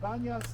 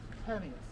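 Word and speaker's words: Banias: And Banyas is the Arab pronunciation of Panias. The Arabs cannot pronounce the B.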